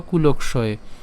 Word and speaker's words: কুলক্ষয়: উচ্চারণ করব কুলকয় হ্যাঁ কুলকয় অর্থাৎ ক পর্যন্ত উচ্চারণ করলাম আর বাকি থাকে হচ্ছে মূর্ধন্যস মূর্ধন্যস অন্তেস্থি কে নিয়ে গেলাম তাহলে কি দাঁড়ালো কুলক্ষয় কুলক্ষয়ে প্রণসীয়ন্তি অথবা আমরা এখানে প্রণস ইয়ন্তিও বলতে